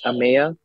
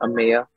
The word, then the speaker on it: Ameya: My name is Ameya. It's like saying a mayor, but in a New York accent, if you know what it's like. I'm sure some of y'all do, but it's the three syllables, Ameya.